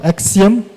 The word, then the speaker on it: AXIEM: And then we have Axiom. So you spell it as AXIEM.